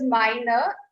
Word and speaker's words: meine: And when it is I-E, we say Liebe.